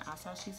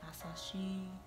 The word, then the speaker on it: Asahi: I don't know which one could work for Noya and Asashi's hair. I keep saying his name wrong and it makes me so mad. Asahi, one of them.